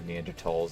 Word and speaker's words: Neanderthal: then we had the Neanderthals or actually as they should be pronounced because the way I just said it is the way is the incorrect way it's technically neanderthals because I believe it was a German the Germans who named them this so yeah